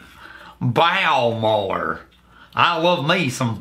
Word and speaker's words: Bowmore: you B all right it's bore oh or bore no bow more it's bow more I love me some